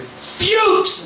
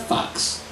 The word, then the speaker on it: Fuchs: And if your name is, as he made it clear, Fuchs, goddammit, it's Fuchs. People aren't. You still have to be prepared when someone doesn't say it right, because it looks like Fox.